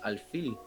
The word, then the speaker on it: alfil: And that's how you say it in Spanish, alfil.